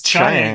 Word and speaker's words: Chiang: It's Chiang. Well, that's apparently. I'm just going honestly by how they pronounce it in the actual story. Sure. So I got to take that as the authority because Weng-Chiang.